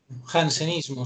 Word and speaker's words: jansenismo: iglesia que se llama como jansenismo así se pronuncia el jansenismo sí esto no permitía que dios fuera visto